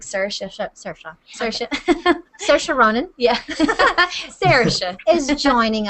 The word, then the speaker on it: Saoirse: all the time but it's Seattle yeah you can do it that way if you want or is it Sarah we don't need to say it like that just like sir sure Ronin yeah Sarah is